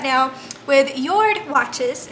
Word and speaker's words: Jord: Now, I am in a partnership right now with Yord Watches. It's spelled J-O-R-D, but it's pronounced Yord Watches, and this is my beautiful watch that they sent me, and it is really gorgeous.